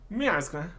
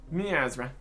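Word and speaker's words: Miazrqa: Miarzra, with a silent Q. So, Miazra.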